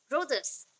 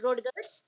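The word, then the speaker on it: Rodgers: Okay, सो इसको फिर से एक्सप्लेन कौन किया, रिचर्ड एंड रोजर्स, नॉट रोडगर्स, रोडगर्स नहीं बोलना है, रोजर्स, रोजर्स।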